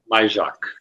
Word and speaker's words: Majchrzak: Majchrzak. Majchrzak, yeah, Majchrzak.